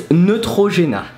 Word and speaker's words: Neutrogena: So it's Neutrogena. So Neutrogena, let's break it down to pronounce it. Ne. And in 10,000 videos that I made, I never managed to find another way than saying, pronounce it as I said it. Trop. Let's give up! So trop, like the troposphere, the lowest region of the atmosphere, but with a French R. Trop. G, like J.